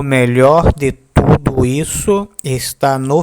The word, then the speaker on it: melhor: Melhor, melhor, melhor, melhor.